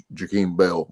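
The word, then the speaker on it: Jaheim Bell: For me personally, I'm going to be more excited to see with the ways they use Jakeem Bell.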